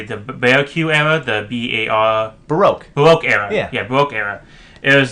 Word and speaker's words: Baroque: Well, Terry Gilliam likes old age, basically, I believe it's called I'm going to pronounce it totally, the Baroque era, the B-A-R... Baroque era.